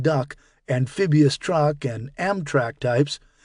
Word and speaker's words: DUKW: personnel, and the legendary DUKW, pronounced duck, amphibious truck, and Amtrak